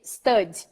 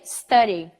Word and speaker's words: study: so let's remember that the why in English is pronounced so I'm not gonna say stud I'm gonna say study so the past is